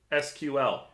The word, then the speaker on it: SQL: different devs i guess i say sequel because it's faster yeah it is faster i got time to spell things out sql a whole syllable there you heard it